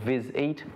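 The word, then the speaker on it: VizEat: We saw that there was something in Europe called Viz Eat, two syllables again, and here at home,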